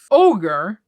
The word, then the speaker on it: ogre: to say the word it's not an orgy because that's something completely else ogre ogre that's how you say it I had Google